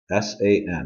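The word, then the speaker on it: 三: have e r and number three is three letters s-a-n what is it San now for number four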